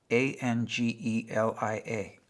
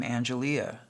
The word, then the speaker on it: Angelia: And when I looked at her, her name tag said a n ge l i a. And I said when she came up and asked me what I wanted, I said, "That's a beautiful name, Angelia."